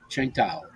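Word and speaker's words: Tsingtao: I tried out and that beer is pronounced uh chinkai Chiang Tao you know spell t-i-s-n-g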